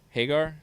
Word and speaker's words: Hagar: uh categories now Sammy Hagar Hagar is the right pronunciation there yeah um I haven't